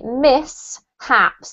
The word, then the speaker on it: mishaps: it just in case so this is actually miss haps there's no shift sound in this word it's mishaps okay miss